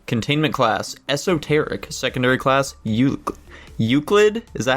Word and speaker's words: Euclid: Secondary class, Euclid? Is that how you pronounce it?